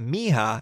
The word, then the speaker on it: Miha: got an email from not Misha but me ha and I hope hopefully